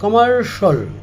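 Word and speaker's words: commercial: এটা হবে martial presidential আমরা বলে থাকি কমার্শিয়াল এটা হবে কমার্শাল ক্রিডেনশিয়াল বলি আমরা ক্রিডেনশিয়াল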